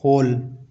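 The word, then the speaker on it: whole: जैसे होल होम sword इनमें भी डब्ल्यू का उच्चारण नहीं होता।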